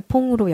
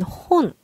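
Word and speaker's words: 本: 퐁은 홍이 앞에 이 때문에 발음이 격화돼서 퐁으로 여기선 바뀐 거고요. 원래는 혼.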